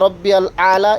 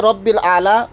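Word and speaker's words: ربي الأعلى: এরপরে সিজদার তাসবিহ সুবহানা রব্বিয়াল আলা, এখানে রব্বিল আলা পরে, অত অনেকজনা আলা পরে, আইন উচ্চারণ করে না।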